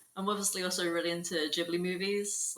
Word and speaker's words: Ghibli: So I think in Japan they actually pronounce it Ghibli, but they said I remember them saying it's okay to pronounce it Ghibli as well.